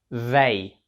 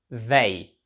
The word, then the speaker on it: they: ось ці перші дві літери ті та H вимовляються як в тобто ваші язик між зубами і ви видуваєте повітря в зей зей тобто вони це означає вони далі г гі